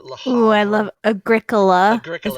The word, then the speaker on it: Agricola: Ooh, I love Agricola. Is how it's pronounced.